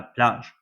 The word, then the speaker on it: plage: The sound here was J and not G. As I told before, most of words with higher G, the sound G. Here you have the sound J. La plage, the beach.